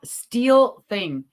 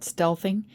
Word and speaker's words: stealthing: where is it yeah steel thing sorry about that I did pronounce it wrong it's called stealthing and it is illegal